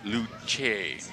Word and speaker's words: Luce: Pronounced Luce.